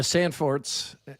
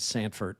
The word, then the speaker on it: Sandfort: Uh, Price Price Sandfort the Sandforts It's It's pro It's pronounced Sandfort. I'm trying to adjust to that cuz I've said Sanford for a long time. Yeah, yeah, yeah, yeah, cuz it's not Fred Sanford.